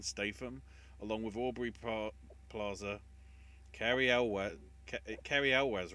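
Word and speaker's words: Cary Elwes: Unsurprisingly, It's the new Guy Ritchie film, but it's also got the return of Jason Statham, along with Aubrey Plaza, Carrie Elwes, right? That's the pronunciation, from Princess Bride.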